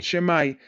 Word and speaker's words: Shimei: Shimai. Shemai, como quieran pronunciarlo.